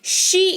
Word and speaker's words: she: Female के लिए word है शी, SHE, शी इसको पढ़ते हैं। तालव्य है तो सी मत करिएगा, शी इसको पढ़ते हैं, ठीक है।